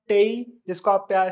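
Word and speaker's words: taille: बट एज़ फार एज़ I know French pronunciation में एल को उतना ज्यादा प्रोनाउंस नहीं करते। इट वुड बी टे in French if आई am right but we don't care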